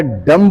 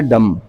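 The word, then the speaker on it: dumb: अप नहीं होता है हम सब बी का साइलेंट होता है तो आयरलैंड डेट दें इन्होंने बताया डंप नहीं होता है डंब मतलब गंगा तो डंप नहीं होता है बी साइलेंट होता है दम तो 20 स्ट्रीटिंग side never new इन माय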